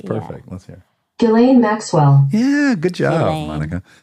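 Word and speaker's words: Ghislaine: it's Maxwell her last name is Maxwell the pronunciation yes yes I think it's gain gilain that sounds perfect let's he gilain Maxwell yeah good job Monica so you haven't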